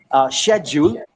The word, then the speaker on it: schedule: Schedule is British pronunciation, and schedule is an American pronunciation.